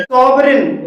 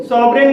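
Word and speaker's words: sovereign: सॉवरिन, सॉवरिन में भी जी के बाद एन है और यहाँ पर भी जी साइलेंट है।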